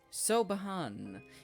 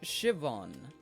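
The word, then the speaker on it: Siobhan: mouth drawing room what about this so sobin so behan it's pronounced Shivan what a menacing name says here that she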